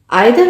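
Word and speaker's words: either: मैंने आपको पहले बताया था ईदर और नीदर भी बोलते हैं। आप जो चाहे इसको प्रोनाउंस कर सकते हैं।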